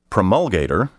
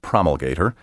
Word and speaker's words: promulgator: public or widely known promulgator which may also be pronounced promulgator means a person who